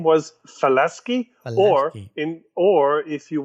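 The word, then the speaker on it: Falaschi: to falasky because uh many people call him falashi yes and that's just not correct his name was falasky or in or if you want the french pronunciation faleski merci felizky all right well the cars bodied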